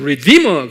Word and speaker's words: redeemer: redeemer 그래요. redeemer. 입으로 하면 redeemer, 액센트가 D에 있어요.